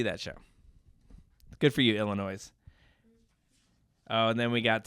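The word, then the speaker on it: Illinoise: hers next up Illinois Illinois which is funny because you think I'm pronouncing it wrong but no it's n o i s e yeah it's Illinois um I don't know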